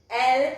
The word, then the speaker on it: ils: We will write it as ils, but we will pronounce it as L and il. The last S won't be pronounced until and unless it is followed by a vowel.